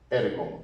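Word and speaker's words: ἔργον: terminación es on ergon y pronunciamos ergon recordemos que esta es la ro parece una p pero es como una r porque suena como la r Española y es ergon con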